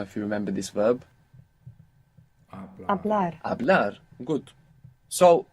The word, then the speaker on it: hablar: To speak began with a silent H. I don't know if you remember this verb. Hablar.